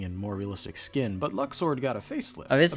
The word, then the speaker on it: Luxord: Oh, it's Luxord now. Alright, you're the boss. I'll be sure to correct my pronunciation.